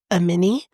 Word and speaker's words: Amani: said her name um cuz it is spelled like ammani but it's I think it's a mini so we are in